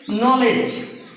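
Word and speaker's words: knowledge: অর্থাৎ কে এর উচ্চারণটা হয় না। যেমন নলেজ দেখেন এখানে কে এন আছে।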